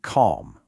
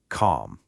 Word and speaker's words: calm: A lot of people try to say calm, really trying to hit that L sound, but nope. That L is completely silent. The right way to say it is just calm.